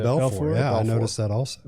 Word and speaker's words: Belfort: Davi Belfort. You don't say the T. The T is silent. Davi Belfort.